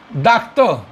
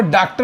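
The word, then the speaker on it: doctor: टी ओ आर तो इसको हम पढ़ेंगे डॉक्ट इसको डॉक्टर मत बोल देना डक्त है अगर हम इसको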